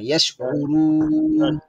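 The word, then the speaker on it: يشعرون: হুন হুন আলা ইন্নাহুম হুমুল মুফসিদুনা ওয়ালাকিন লা ইয়াশউরুন ইয়াশউরু এই যে আইনের উচ্চারণটা কিন্তু হচ্ছে না। ইয়াশউরুন ইয়াশ ইয়াশউরু ইয়াশউরু ইয়াশউরুন।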